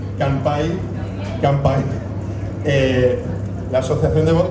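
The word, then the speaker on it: 乾杯: que está con mcampay sea es como tempura que se acercan en español con m pero en japonés se escribe con N y Campa hay que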